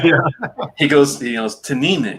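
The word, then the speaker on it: Teaninich: he goes you know to nina gets the emphasis on that second syllable i'm like oh i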